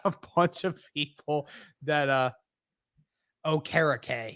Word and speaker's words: Okereke: That, Okereke. Yeah, that's how I say it now. I know that's how it is, because he corrected people.